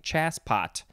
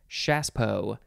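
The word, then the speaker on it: chassepot: spelled c-h-a-s-a-a-s-s-e p-o-t c-h-a-s-s-e it looks like chas pot but you say shaspo noun from 1869 it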